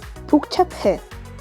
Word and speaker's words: 복잡해: For example, pu plus hu is going to be pronounced as pu. For example, 복잡해, complicated.